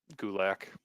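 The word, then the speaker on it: Gulak: reasons I just like gulick I know you do it rhymes with attack he was on yeah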